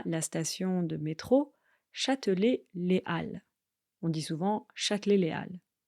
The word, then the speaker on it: Halles: station de métro Châtelet-Les Halles. On dit souvent Châtelet-Les Halles. Les Halles, attention, ça s'écrit avec un H, mais on ne le prononce pas. On ne dit pas les Halles, mais les Halles.